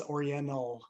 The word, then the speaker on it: Oriental: yes and you don't you're not supposed to pronounce the t in oriental it's oriental so um but yeah